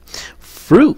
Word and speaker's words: fruit: Fruit, đọc làm sao?